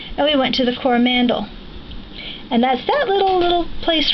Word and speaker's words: Coromandel: My first trip to New Zealand, Brian was building homes, and we went to the Coromandel.